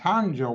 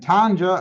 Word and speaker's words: Tanja: And Tanja, I think that's how you pronounce her name. It's Tonja, so I assume that's Tanja.